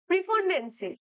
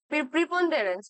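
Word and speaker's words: preponderance: What is the synonym of প্রিপন্ডেন্সি, ঠিক আছে। দেখো ওয়ার্ডটা কি আছে? প্রিপন্ডেরেন্স। ওকে, সরি আই প্রোনাউন্স ইট রং, আমি নোটিস করিনি। প্রিপন্ডেরেন্স আছে ওয়ার্ডটা। তো দেখো এটার মানে কি?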